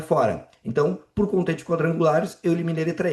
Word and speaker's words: quadrangulares: Quadrangulares. Opa, aqui não é dígrafo porque eu pronuncie esse u. Não é quadrangulares, é qua.